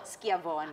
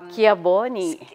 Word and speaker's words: Schiavone: Schiavone. Tama ba yung ano ko? Schiavone. Ah, so yun ang correct. Yung C-H... Schiavone.